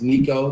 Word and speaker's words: Nico: stream at okay so my name is Nico that's how you pronounce my name um that's my real